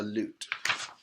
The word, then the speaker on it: lute: old instrument is a loot and I've only seen it once but if you see it here the loot is bent right here so it rhymes with flute but it's called a loot let's go with M